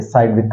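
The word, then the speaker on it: Sidgwick: तो एक रूल है that is called साइडविक rule, SIDGWIC के साइडविक रूल, जी साइलेंट पढ़ लेते हैं इसमें, साइडविक रूल।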